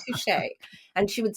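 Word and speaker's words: touché: I taught her how to pronounce touche. She really liked saying touche. And she would say touch. And I finally was like, okay, it's like two, the number, and then shea, like shea butter.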